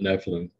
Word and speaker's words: Nephilim: There's that word that I butcher all the time, Nephilim. Nephilim is what my friend in Arizona says, the way to pronounce it, Nephilim.